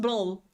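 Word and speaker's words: brød: Bro, this broad, something like this, it's pronounced brawl. Blah, blah, blah, because do you remember how the D should be pronounced? It's like a like you are disgusted basically, and so yeah, it's brawl.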